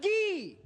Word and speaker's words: Gay: And it's supposed to be pronounced Guy.